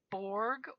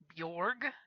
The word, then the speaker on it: Borg: When I discovered this game, Pirate Borg, or Bjorg, depending on which side of the pond you're on and how you want to pronounce it, Pirate Borg is a MÖRK Borg RPG done by Limithron.